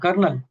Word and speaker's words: colonel: It's kernel. And I always felt that colonel is wrong because in Hindi it is pronounced colonel.